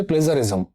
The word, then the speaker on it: plagiarism: এর যে সঠিক উচ্চারণ সেটা হচ্ছে প্লেজারিজম, প্লেজারিজম।